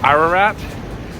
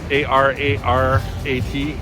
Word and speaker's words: Ararat: Ararat, A-R-A-R-A-T, Ararat, which is an Armenian restaurant that I also love, but it's a little pricey, and decided to try something different today.